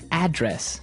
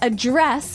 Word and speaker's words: address: Now, if you notice, it's spelled the same way as address. That's right. But you pronounce it differently. So the verb address has the stress on the second syllable.